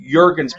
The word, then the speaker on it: Jurgens: they're looking at this cameron jurgen's pick which is the correct pronunciation i had to make i had to make sure that it was obviously the whole time yeah the j is violent but when you listen